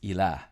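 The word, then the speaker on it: إله: The word for God, or something that is worshipped in Arabic, is pronounced ilah.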